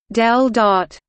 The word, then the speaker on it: ∇⋅: The symbol pronounced del dot denotes the divergence operator.